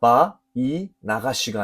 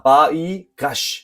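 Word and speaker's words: ויגש: 그리고 나가시 나가시 히브리어 알파벳 눈이 앞에 붙은 니은 발음이 나는 나가시 가까이 가다 접근하다 다가가다 그러나이 눈이 생략되어지면서 바이 나가시가 아니라 바이가시 바 이가시가 되겠습니다.이 가까이 가다 접근하다 다가가다라는 의미가 또 다른 표현으로 나오기도 하는데요.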